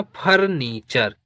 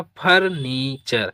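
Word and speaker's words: furniture: तो ये हो गया फर्नीचर। क्या हो गया? फर्नीचर।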